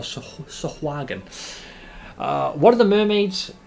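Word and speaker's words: sahuagin: Bolstered, the muroke overcame and drove off the vicious uh I guess it's sahagen. Is that how you pronounce it? That's how I know you pronounce it. Or sahagan.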